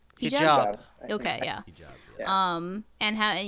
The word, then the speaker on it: hijab: Hijab.